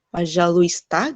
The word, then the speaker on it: пожалуйста: Jadi di sini ada huruf U sama ikrat ke Y kan, tapi dia nggak dibaca tuh. Nggak пожалуйста gitu, tapi пожалуйста. Orang Rusia kalau ngajarin pelan-pelan, mereka bacanya пожалуйста gitu tuh. Пожалуйста. Beberapa orang di YouTube saya dengar gitu tuh, пожалуйста. Tapi kalau di dunia nyata nggak ada tuh bilang пожалуйста. Пожалуйста. Jadi L-nya langsung ke S.